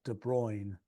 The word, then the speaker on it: De Bruijn: for Victor's cultural education, I am 99% certain that De Bruijn is pronounced De Bruijn, like that. He was Bruijn. Dutch. De Bruijn. I don't know. Somebody should say it with not a British accent.